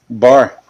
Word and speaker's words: Bauer: is it Bauer? Bar. Bar. Like raising the bar.